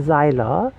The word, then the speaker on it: Seiler: look at her page her name is barbara zeiler barbara as you know how to spell it and xyla would be spelled s-i-e-l-e-r and i just read